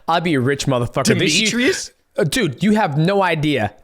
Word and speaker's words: Demetrious: Demetrious? Dude, you have no idea. No idea. It'd be like Demetrius, Demetriasa. Like, it's fucking crazy.